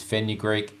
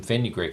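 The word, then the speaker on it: fenugreek: all the time but I believe this is pronounced as feny Greek f n u g r we e k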